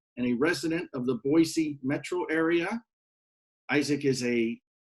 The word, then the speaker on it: Boise: It's pronounced with an S, not a Z. So Boise.